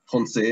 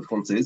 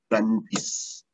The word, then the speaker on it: Français: Yes, so France is a little bit different because the Malay people couldn't pronounce Français or Français, so they said Francis.